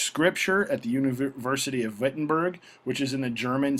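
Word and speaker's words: Wittenberg: his time in vitberg it's pronounced with that V sound because you're in Germany vitberg which was in the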